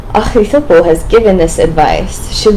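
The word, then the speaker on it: Ahithophel: Ahithopel," I figured out how to say it, Ahithopel, was with him.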